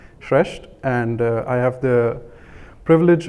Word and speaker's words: Shreshth: that in my name I pronounce it shreshed and I have the